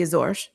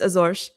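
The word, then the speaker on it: Azores: a um autonomous region of Portugal called the Azor. Um or if you're American, you may have heard them called Azors, but it's pronounced Azor.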